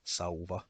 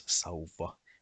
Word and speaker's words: sauva: In the examples of, for example, sauva, it is not pronounced as sauva, no, it is pronounced as sauva with a long V sound, and also the word vauva and the name of Kouvola.